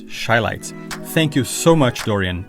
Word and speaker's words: Shylights: I've always called them Chylights, when in fact is Shylights.